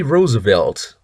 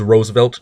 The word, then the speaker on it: Roosevelt: um okay uh next number nine Franklin D Roosevelt oh Y open quote Franklin Roosevelt also called